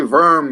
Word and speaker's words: Verm: And we say Verm because it's, I might have pronounced it wrong in the past. It's Verm.